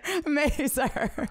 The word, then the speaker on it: Mazur: Mazur.